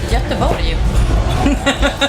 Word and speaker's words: Göteborg: We played Gothenburg, is how you say it, or Gothenburg. Göteborg.